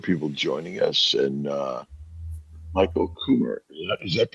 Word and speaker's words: Kummer: Well, we We got also a number of people joining us, and Michael Kummer. Is that how you pronounce it, Michael?